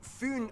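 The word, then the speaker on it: Fyn: it is connected to foon island not finn island by the great belt bridge completed in 1998.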